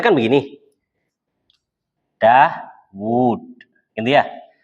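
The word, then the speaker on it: داود: Dawud. Gitu ya. Wawunya panjang atau pendek bacanya? Pendek, Daud gitu aja. Panjang, nggak pernah baca Daud pendek itu. Nggak pernah. Daud nggak ada.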